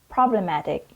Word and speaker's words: problematic: word problematic problematic and the stress is under the M problematic involving problems or difficulties